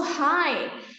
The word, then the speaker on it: high: okay and then also high so you don't need to pronounce the gh oh sorry i always